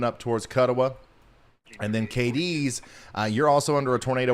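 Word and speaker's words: Cadiz: KDs is the pronunciation on that.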